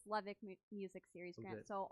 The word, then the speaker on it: Levitt: Yeah, and it's Levick Music Series grant.